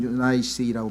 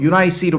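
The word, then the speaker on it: Eunice: 하여간 뭐 영어 발음식으로 하면 유나이스라고 발음하는데, 유니게라고 하는 이유는 뭐냐면요, 이게 그 성경에 나와 있는 철자가 우리 성경에는 C를 라틴어식으로 발음을 했어요.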